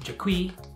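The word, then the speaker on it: Jerquee: It's pronounced Jerky. Whatever, it's spelled J-E-R-Q-U-E-E. Jerky.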